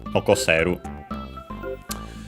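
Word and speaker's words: 残せる: Nokosu is accented, and so yeah, also the potential form is accented, but of course in this case on the se, on the second to last syllable, nokoseru.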